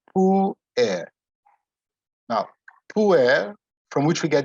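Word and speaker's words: puer: to be declined as poor air there's two vowels so it's two syllables pull air now from which we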